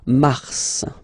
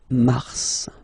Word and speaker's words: Mars: So, in a way it's an exception because normally final S is not pronounced in French. Okay. We've got some exceptions and this one is one of them. So Mars pronounce the final S.